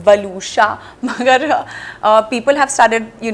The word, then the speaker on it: Waluscha: My name is also not very easy to pronounce, वलूशा, मगर people have started, you know, knowing how to pronounce the name.